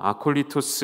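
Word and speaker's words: ἀκωλύτως: 것이죠 거침없이 라는 단어는 헬라어로 아 콜리 토스 라고 읽을 수가 있는데 방에 없이 자유롭게 라는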